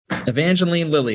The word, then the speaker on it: Evangeline Lilly: wasp that evangeline lily is that how you pronounce her name jake yeah thank you i heard